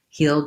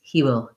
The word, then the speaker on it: he'll: So what you should be saying is he'll go, he'll like it, he'll think. And what I hear is he will go, he will like it.